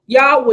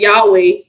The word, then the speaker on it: Yahweh: not take Asaph or matin so that's what Yahweh is let's go back to let's go back to the word document there this is why I was saying Yahweh is pronounced as such let's go back up